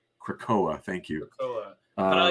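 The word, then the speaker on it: Krakoa: is it about the mission to Krakatoa or krakakoa crackoa thank you but I like the way you pronounced it thank you you added like four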